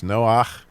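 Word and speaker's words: נֹחַ: Obviously, you know, it's Noach if you pronounce that in Hebrew.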